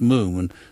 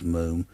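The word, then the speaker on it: Múm: they're icelandic anyway but you say you say it's moon nasha says moom nasher for those of you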